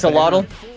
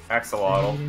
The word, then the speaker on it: Axolotl: How do you pronounce that word? I've seen that. Axolotl. Axolotl.